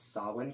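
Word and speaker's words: Samhain: can I just mention I'm pretty sure Halloween 3 is the only one where they actually pronounce sawin correctly yes yes it is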